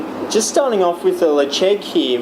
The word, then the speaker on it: Ledaig: Just starting off with the Ledaig here, which is an unusual pronunciation for the way it's spelled, which is spelled Ledaig.